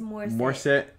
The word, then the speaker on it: Morissette: Like Morissette, Alanis Morissette.